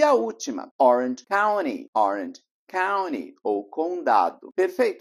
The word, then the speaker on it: Orange County: som de ó Sant Claus e a última Orange county Orange county ou Condado perfeito Então você viu a importância de saber como pronunciar e saber sobre mais fonética aqui dos